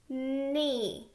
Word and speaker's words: knee: We also have silent letters. We have the consonants K-N together and the consonants G-N together. We get the N sound, like in nest.